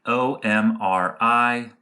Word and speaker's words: OMRI: And so one thing that gardeners can look for is what's called the OMRI logo.